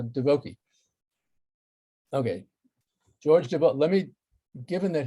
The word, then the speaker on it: Divoky: And his last name, however, is pronounced Divoky, not Divoky, so Divoky.